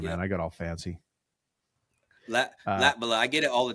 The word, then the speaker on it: Latvala: And I mispronounced your name anyways. You told me Latvala, and then I did it Latvala. Yep. Yeah, sorry, man. I got all fancy. Latvala.